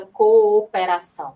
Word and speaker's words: cooperação: É o exemplo da palavra cooperação, né? Cooperação. Que isso, Ana? Sério? Sério. Olha só. Co operação. E apesar delas serem iguais, observe que na pronúncia elas vão sair separadinhas, ó.